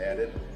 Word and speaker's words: ADHD: The title of the mixtape is Unchemically Balanced, due to the fact that I'm called ADHD, which is pronounced added.